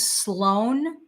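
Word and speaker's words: SLO4N: His name is Sloan, but it's spelled SLO, the number 4, N.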